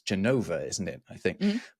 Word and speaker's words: Genova: It's weird that we call it Genoa, even though in Italian it's Genova, isn't it?